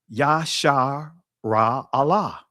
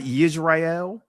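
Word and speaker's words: ישראל: But you also see that word in when you say Israel's name, Yashar Ra Allah. That's the proper pronunciation of the ancient name for Israel. It's not Yisrael. Yisrael is not an ancient pronunciation.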